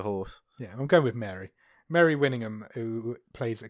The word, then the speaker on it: Mare: stars now am I pronouncing this lady's name m a r e Mary may I presume it's Mary I think so she's not going be called May is she no that's like a horse it's not like a